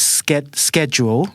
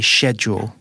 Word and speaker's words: schedule: So the American is more. It's got more of a case as schedule. Right. Yes, I think that's closer to the Thai pronunciation. Schedule. Yeah, but the British say schedule.